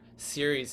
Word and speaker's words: Ceres: Because when you get down to here, Ceres is the soft C sound, following spring and scarcity and shun and shall, and all these S sounds down here go with the soft C of Ceres.